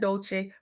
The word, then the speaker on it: Dolce: Welcome to the soft girl era podcast hosted by Dolce, pronounced dolce like sweet softness whispered in French.